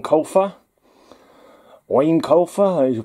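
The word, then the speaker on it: Eoin: else took over right in in that universe ian colfer wayne colfer as you pronounce it author of the artemis fowl series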